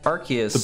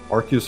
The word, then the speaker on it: Arceus: Well, because his name is a combination of Archangel and Deus.